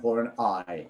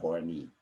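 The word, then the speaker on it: Horney: next one also please please pronounce karen horn i not kind of horny because it is written something like horny but the family name is karen horonite because uh her uh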